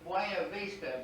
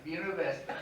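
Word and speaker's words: Buena Vista: where that street it should be pronounced bueno vista but it's reported in our language it's pronounced university and i'll never forget that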